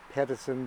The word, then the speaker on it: Pedicin: an e on so became like the word medicine pettison with an e that's